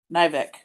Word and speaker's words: Nivick: what what's your name nivick i didn't know if that was like uh a last initial i don't know why i didn't pronounce the k i was thinking when